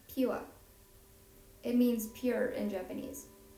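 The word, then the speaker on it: Pyua: Because PYU makes the pew sound.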